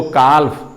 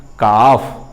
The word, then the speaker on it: calf: कब पढ़ेगा CALF को काल्फ, काल्फ CALF काल्फ। लेकिन CALF का रियल प्रोनाउंसिएशन है, उच्चारण है काफ। L यहाँ साइलेंट हो गया।